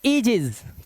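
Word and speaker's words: Aegis: यहां लिखा है कि यदि किसी शब्द में 'ae' दिया गया है, तो आपको उसका उच्चारण 'ee' के रूप में करना चाहिए। तो, हम इसे कैसे पढ़ेंगे? अब यह 'ई' बन गया है। तो यह 'एजिस' बन जाता है। यह क्या बन गया? एजिस।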